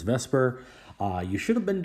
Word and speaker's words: VSEPR: In this video, we're going to be going over and doing a little bit of a reminder uh VPR, which I pronounce as Vesper.